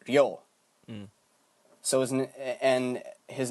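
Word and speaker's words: Ryō: this makes a sound ryo so and his name is uh with and and the vowel is elongated by a u vowel right after it so his name would be pronounced ryo so that's real horikawa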